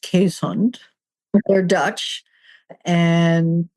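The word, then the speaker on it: Keeshond: But in case there are any dog breeders listening, it's pronounced Quesund.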